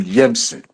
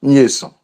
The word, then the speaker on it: Nyeson: You always call him Yemsen. His name is Nyeson.